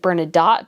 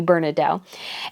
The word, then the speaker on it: Bernadotte: I think some people pronounce it Bernadotte, but if it's French, it should be Bernadotte.